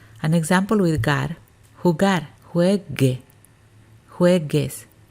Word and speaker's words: juegue: An example with gar, jugar, juegue, juegues. In this one, we're maintaining the G, the hard G. Because if we didn't have that GU, it would sound jueje.